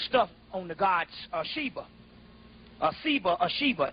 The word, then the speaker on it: Shiva: Shiva, S-I-V-A, Shiva, they pronounced it.